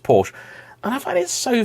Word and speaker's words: Porsche: I've grown up with, all say Porsche. Now, I don't say it the Tony from Gravelwood way, which is Porsche. That's very, very distinct pronunciation there. But Porsche is how pretty much most British people say it.